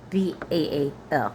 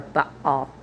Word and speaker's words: Baal: Possibly a variant of Jashab, Jashob hyphen Baal, Baal, or Baal, if you want to pronounce both the A's. Both are correct.